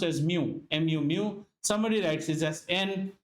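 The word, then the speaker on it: μ: is represented by Greek letter this this is pronounced as Mu mu mu somebody writes this as n or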